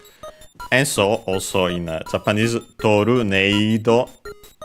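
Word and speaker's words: トルネード: As a reminder, usually E in Japanese, it's E, long E. Some still pronounce it as E. But, of course, in katakana, we would usually have the long vowel mark. So in this case, again, it's Torneido to mimic the A sound in English.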